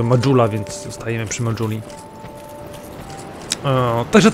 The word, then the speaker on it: Majula: Ale no jednak wszyscy bohaterowie mówią Majula, więc zostajemy przy Majuli.